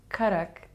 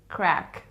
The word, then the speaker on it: karak: the middle east what why do people pronounce karak crack like crack i've stumbled upon that as well and it is true like they say k-a-r-a-k and they're like karak karak krak it's not like crack it's like ka you